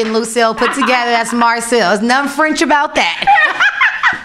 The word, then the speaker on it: Marcille: person, you guys, Eva Marcille. Did I say it right? You said it right.